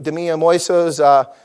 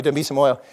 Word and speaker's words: Dambisa Moyo: Damiya Moiso's, excuse me, I always get her name wrong. Thank you, Dambisa Moyo.